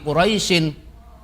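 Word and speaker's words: قريش: dimulai dari ayat pertama jika kita membacanya nanti quraisyin terus dilanjutkan ayat berikutnya maka quraisy-nya itu tidak boleh dibaca panjang di meskipun ada Ya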